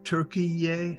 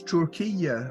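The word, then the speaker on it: Türkiye: it's three syllables then, not two. Yeah, you do pronounce that little dangling vowel.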